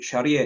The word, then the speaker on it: Sharia: no such thing as Sharia law Sharia is a wide and expans yeah because that's how it's spelled It's s h a r i a Sharia not not not